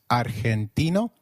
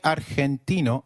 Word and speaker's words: argentino: Argentino is pronounced as Argentino in Spanish G when followed by e or I is pronounced like a throaty h so try saying Argentino again Argentino excellent you may have